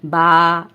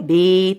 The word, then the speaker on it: ب: حروف تہجی کہتے ہیں۔ ہم نے ان تمام حروف کو عربی لب و لہجے کے مطابق پڑھنا ہے، یعنی با، تا، سا، اور اردو تلفظ سے نہیں پڑھنا۔ اردو تلفظ یہ ہے بے، تے، سے، کیونکہ عربی حروف تہجی میں بڑی یہ کی آواز اے نہیں ہے بلکہ یا ہے، ٹھیک ہے، اس کا